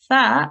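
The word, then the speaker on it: ث: So if you just quickly go through this, the tip of the tongue slightly comes out of the mouth and softly touches the upper teeth. Air should escape when pronounced properly.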